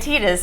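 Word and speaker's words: Tidus: to T hat that they said tetus I think it's it's the official pronunciation apparently whatever tetus T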